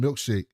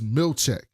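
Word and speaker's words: Milchick: He doesn't know how to say his name. He keeps calling him Milkshake. And Mark S is like, it's Milchek.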